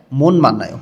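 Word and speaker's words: 못 만나요: মত আর আছে মান্নায় ত ধ্বনির বাচ্চিমের পরে যখন মিয়ম আসে তখন ত ধ্বনির বাচ্চিম গুলো ন উচ্চারণ করতে হয় এখানে উচ্চারণ হবে মন মানায় মত মানে হচ্ছে কি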